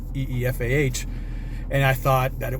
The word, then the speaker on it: Aoife: shepherd ifa ao ife but pronounced eefah and i thought that